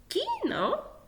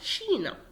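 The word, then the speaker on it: China: كينا او شينا، الاتنين نطقهم صح، ممكن تقراها كينا او شينا، تمام.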